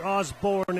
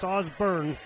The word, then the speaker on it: Osburn: The listener just texted in said we're pronouncing JJ Osburn's name wrong. It's not Osborne, it's Osburn.